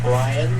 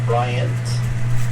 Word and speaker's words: Bryan: too high for them it's Daniel briyan not Bryant you say it like